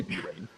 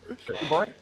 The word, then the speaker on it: Bahrain: I didn't say B-Rain. That's what you did. Yeah. Speaking quickly, I don't pronounce it B-Rain. Bahrain.